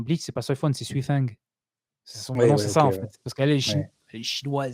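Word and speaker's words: Soi Fon: C'est pareil dans le vrai nom de Soifon, dans Bleach, c'est pas Soifon, c'est Suifeng.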